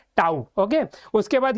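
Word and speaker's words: tau: pronounce कैसे करते हैं we pronounce it एज टऊ okay उसके बाद ये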